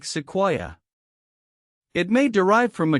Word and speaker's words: Sequoyah: His Cherokee name was rendered in English as Sequoyah, though the exact pronunciation in Cherokee is something more like Sequoyah.